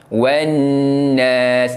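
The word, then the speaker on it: والناس: Alif lam tak perlu dibunyikan. Ha yang wau baris atas terus masuk huruf nun wannas.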